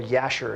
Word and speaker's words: Jashar: is the book of Jeshar located? Genesis, Exodus, Leviticus, Numbers, Deuteronomy, Joshua. Where is it located? Or Yashar, it could be pronounced. So yeah, the book of Jashar, it means the book of the upright.